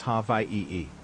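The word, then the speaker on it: Hawaiʻi: The traditional spelling is hi and the pronunciation is ha e. The a and h merge. The w and i merge. The W makes a V sound since it's surrounded by vowels.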